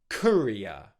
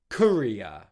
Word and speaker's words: courier: So the second part of this word is ear, ear, ear. And the whole word together, courier, courier, courier.